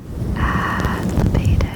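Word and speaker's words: addlepated: But the first one is adlibated. It's adlepated, and it's an adjective meaning mixed up, confused, or like eccentric. Adlibated, I think that's how you say it.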